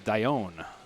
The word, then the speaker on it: Dionne: Wanted to make sure I got his last name pronunciation correct, and he told me it's Dionne.